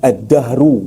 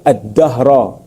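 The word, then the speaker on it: الدهر: Ad-dahru. Baca dengan ad-dahru. Ada yang kata dengan baca add-dahra ni bahasa Arablah.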